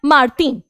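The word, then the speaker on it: Martine: अब आप कहोगे कि अभी आपने सिखाया था कि भाई लास्ट का वर्ड प्रोनाउंस नहीं करते हैं, तो हम मार्टीन का न क्यों बोल रहे हैं मैम, मार्टीन। अब यहां पर ई है बच्चों, ई है, एंड में एक वॉवल है।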